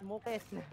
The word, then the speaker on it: Muklis: tapi dia ajanya M U L I S Muklis. Muklis aja. Muklis. Muklis tajir bang. Muklis tajir banget anjing.